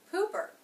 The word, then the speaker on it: pooper: This is a two-syllable word. Stress is on the first syllable. It begins with the P consonant, the U vowel, poo, poo. Now, since that's the stressed syllable, make sure it has some shape in it. Poo, poo. The second unstressed syllable is the P consonant and then schwa R sound.